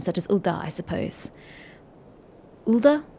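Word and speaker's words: Ul'dah: as ulda i suppose ulda ulda i'm pretty sure it was the emphasis on the first part the few at the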